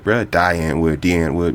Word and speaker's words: Die Antwoord: D Antwood. De Antwood. Man, my American brain wants to pronounce it die so bad, but it's D Antwood.